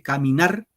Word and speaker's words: caminar: palabras, empezando los versos, caminar va en, fíjate, caminar, 3 sílabas. En la tercera sílaba va el acento, caminar.